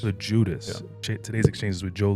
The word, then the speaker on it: Loguidice: Is that how you pronounce it? Loguidice. Loguidice.